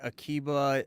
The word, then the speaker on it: Akiba: Was this also around the time of like Rabbi Akiba and Bar Kokhba, if I'm pronouncing the names correctly? Yeah, those are correct.